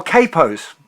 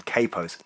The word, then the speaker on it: capo: all about Kappos or Capo's the pronunciation changes depending on what part of the world you live in I tend to call him a capo I know Americans call them Capo's doesn't really make a